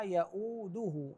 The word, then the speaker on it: يؤوده: ننتبه الى كلمه ولا يؤوده حفظهما ولا يؤوده الدال مضمومه وليس ولا يؤوده يؤوده غير صحيح كذلك حفظهما وليس حفظهما